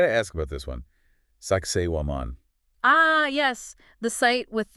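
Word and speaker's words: Sacsayhuamán: ask about this one Sak waman ah yes the site with the um interesting name you could say that that the blog actually gives a pretty funny pronunciation guide sexy woman sexy woman all right I'll remember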